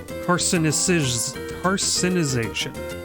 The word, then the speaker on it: carcinization: Carcinization. It feels like there's an extra syllable missing.